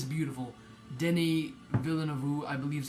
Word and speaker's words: Denis Villeneuve: Denis Villeneuve, I believe is how you pronounce the director's name.